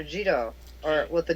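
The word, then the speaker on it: Jitō: 703 80 to empress hito of japan uh jito or with the j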